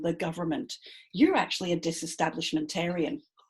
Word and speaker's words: disestablishmentarian: And if you are really, really, really into taking churches away from the government, you're actually a disestablishmentarian. Aryan, like vegetarian. Aryan. Aryan. 3 syllables there. You're a disestablishmentarian.